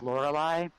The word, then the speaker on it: Lorelei: part people usually do I tell people to remember if you remember the Styx song from the 70s Lorelei I was actually named after that song so it's pretty funny